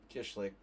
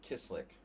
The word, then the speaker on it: Kislik: Kishlik. And, but that's the Hungarian way of pronouncing it. He pronounces it Kislik. So we've mispronounced his name, the poor guy, ever since he came here.